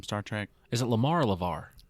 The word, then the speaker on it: LeVar: burton yes from star trek is it lamar levar lavar with the v yeah cause there was somebody